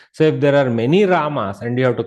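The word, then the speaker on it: राम: But Ramaha is Pratama Ekavachana, whereas in vocative case it becomes Rama. Visarga is dropped. Okay, see, Hey Rama, not Hey Ram. Hey Rama. Has to be still pronounced.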